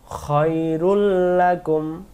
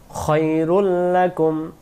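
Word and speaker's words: خَيْرٌ لَكُمْ: ফাহুয়া খৈরুল্লাকুম, খৈ আমরা অনেকে খাই বলে ফেলি তখন উচ্চারণ হবে না, এখানে হবে খৈরুল্লাকুম।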